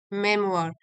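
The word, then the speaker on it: memoir: बन जाते हैं और द मेमोआर इसको प्रोनाउंस करेंगे मेमोर।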